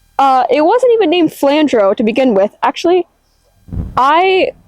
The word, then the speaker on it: Flandrau: So I'm going with flandro.